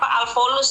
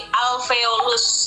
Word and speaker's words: alveolus: Yang perlu diluruskan itu pelafalannya aja Suni, itu bukan alveolus tadi ya, tapi alveolus ya.